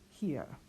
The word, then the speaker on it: hier: And finally, H at the beginning of the word we do pronounce hier.